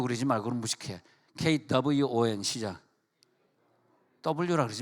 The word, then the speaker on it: Kwon: Kwon 시작.